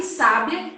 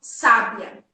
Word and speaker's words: sábia: o significado bem assertivo por exemplo a palavra sabia sabiá e sábia são palavras que tem a mesma grafia o que muda ele cada uma delas é aonde nós marcamos a sílaba tônica então quando eu falo